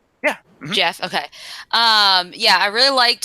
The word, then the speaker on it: Geoff: depth to it Geoff Johns I say you pronounce his name right yeah Jeff okay yeah I really liked his writing he